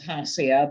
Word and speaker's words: Hasia: And actually, the pronunciation is Hasia, but that is just fine.